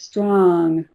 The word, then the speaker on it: strong: Some of them would say strong as olive sock strong and some would say strong as auburn dog.